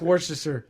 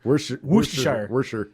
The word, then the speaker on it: Worcestershire: It's like, if you look at it in the English language, it looks like it has 4 syllables, but apparently you do not pronounce that first R.